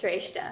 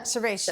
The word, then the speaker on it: Sreshta: And our floor manager just looked up the meaning of your name, Sreshta. Is that how I'm saying it correctly, right? It's Sreshta. Sreshta.